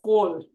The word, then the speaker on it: Kaul: it could be Koul, because in Kashmiri, it's not, the A is closer to an O, so it's really pronounced as Kaul.